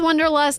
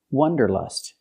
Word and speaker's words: wanderlust: The word is not pronounced wanderlust. It's pronounced wanderlust. Let's look at the difference. The correct pronunciation of this word has the sound ah, like hot and stop. It's an open sound.